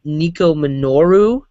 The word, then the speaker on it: Nico Minoru: With She-Hulk, Dazzler, Medusa, and I think it's pronounced Nico Minoru, who is from, what team was it?